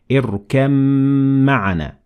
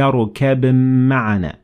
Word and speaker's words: اركب معنا: So we said اركم معنا, and we cannot say يا بني اركب معنا. That is not the correct pronunciation.